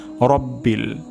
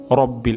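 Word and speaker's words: رَبِّ: আলহামদুলিল্লাহি তারপর শব্দটি হলো রব্বিল রব্বিল এখানে র মোটা হবে রাব্বিল হবে না রব্বিল হবে আলহামদুলিল্লাহি তারপর আলামিন এখানে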